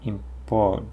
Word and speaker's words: importer: Да, вот вот, да, оно не сильно резкое, такое importer. Importer. Да, importer. Ну, и pt или как d, то есть не нужно слишком t говорить. Но и не нужно резко import d, там нету d такого резко. Importer. Как легче.